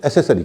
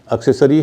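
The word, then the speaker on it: accessory: है वाई होता है आपने देखा होगा एक शब्द है एक्सरी लेकिन अधिकतर लोग उसे एसेसरी कहते हैं अच्छा आपने सुना होगा मैंने तो बहुतों को सुना है एसेसरी वो ये समझते हैं कि जब सीसी होगा तो सही उच्चारण होता है लेकिन ऐसा नहीं है जब सीसी के बाद ई आई और वाई हो तो उनका उच्चार स होगा एक्से सरी है एक्सेंट हा आपका एक्सेंट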